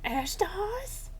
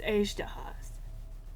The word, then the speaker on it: Azhdaha: Ashdahas? No, Paimon, it's Azdahas.